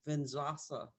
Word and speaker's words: vinyasa: There's a hot yoga, there's a vinyasa, how do I pronounce it? Vinyasa.